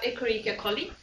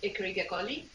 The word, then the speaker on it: Escherichia coli: At the level of bacteria, we have Escherichia coli, and I'm pronouncing in Latin, that's one is E. coli in English. So Escherichia coli.